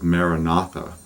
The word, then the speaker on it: Maranatha: the Christian tradition is Maranatha which means Christ cometh or Lord cometh and you would just breathe in again the four syllables you want to break it up into a rhythm so breathe in breathe